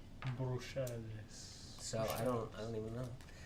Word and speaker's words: Bruxelles: Yeah, well, that one would be French. Bruxelles.